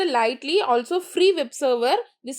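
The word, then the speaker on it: lighttpd: Next, light TDP pronounced lightly also free web server.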